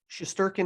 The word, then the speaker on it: Shesterkin: Shesterkin, yeah.